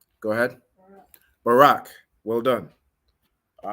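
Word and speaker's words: ברך: So the letters are Ba, Ra, and Ka, but how would you pronounce that word? Go ahead. Barak. Well done. All right, Barak.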